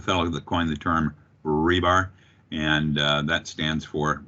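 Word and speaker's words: RBAR: a little information here it is pronounced rebar like the um steel rods hopelessly stuck in cement forever and i also help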